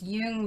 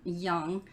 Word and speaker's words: Jung: Somebody told me I've been pronouncing it wrong forever, so I'm trying to say it right. It's Jung, not Young.